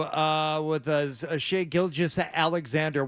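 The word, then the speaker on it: Gilgeous: with a a shake gilges Alexander we are doing the soft G on the second G yes finally I've decided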